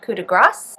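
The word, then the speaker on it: coup de grâce: Also, it is pronounced coup de grace. I was saying it wrong.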